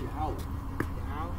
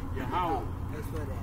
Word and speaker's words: Yahweh: It's Yahweh. Yahweh. It's spelled Y.